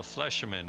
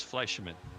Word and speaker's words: Fleischmann: i just got a correction on how to pronounce her last name from karen it's fleischerman so fleshman i guess fleischmann there we go i noticed uh while